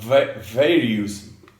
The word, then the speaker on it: various: Various. Nope. No. Okay, so the trick to remember here, right, is these words that end in OUS. The OUS rhymes with Miss, not us.